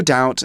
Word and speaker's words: doubt: remember that word doubt we don't pronounce the B it's not doubt but